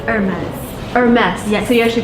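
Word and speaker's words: Hermès: fancy very much yeah Hermes so the correct way to pronounce it I was wrong you actually pronounce last s is amazed amazed I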